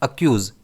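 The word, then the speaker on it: accuse: इसे हम प्रोनाउंस करते हैं अक्यूज। इस वर्ड में स्ट्रेस के पर रहता है।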